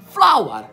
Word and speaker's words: flower: Tuttora non mi convinco che hanno la stessa pronuncia, ma ce l'hanno. Flower, F-L-O-U-R, che significa farina, e flower, F-L-O-W-E-R, che significa fiore.